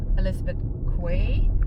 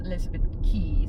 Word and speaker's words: Elizabeth Quay: Elizabeth key we saw the name and thought Elizabeth Quay but apparently it's pronounced Elizabeth key so strange Australia yep but it's a fun